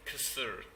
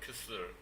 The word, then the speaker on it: kısır: not sure many people would, this is called kısır. That's how you pronounce that, kısır.